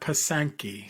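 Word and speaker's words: pysanky: Easter known as and I may not present pronounce this correctly but pasanki so it's p-y-s-a-n-k-y so some of our listeners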